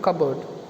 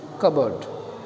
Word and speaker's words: cupboard: Here the spelling, this pronunciation of cupboard, the p is not pronounced, it is cupboard, not cupboard, it is cupboard.